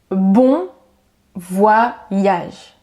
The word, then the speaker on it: bon voyage: Ça c'est dit bon voyage. Bon voyage. Donc ça ne se dit pas bon voyage ou je sais pas encore comment. Juste bon voyage.